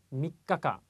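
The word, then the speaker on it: 三日間: 자, 조그만 쯔 발음이 초금이 들어가 있습니다. 한 바퀴 쉬는 거 눈이 강조해 드리는데요. 발음 확실하게 해 주십시오. 다시 한번 해드릴게요. 미카카.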